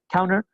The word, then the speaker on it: counter: Counter también entra, fíjense que es como center, acá la T no la pronuncio, para ir más rápido, se pronuncia de esa manera, counter.